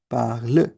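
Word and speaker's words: parlent: Right, E एन टी को हम ओ या ए ऐसा कुछ प्रोनाउंस नहीं करेंगे। We would just pronounce it एज पार्ल, because E हैज अ साइलेंट sound in French.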